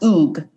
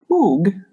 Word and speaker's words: Hugues: De La Plaza okay it's pronounced oog oog okay so oog was